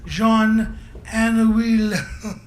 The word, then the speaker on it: Jean Anouilh: upon a play by Jean Anouilh. I looked that up and that's how you say it.